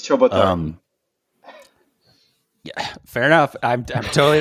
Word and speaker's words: Ciobotaru: one with a last name that is never pronounced properly. So it's Ciobotaru.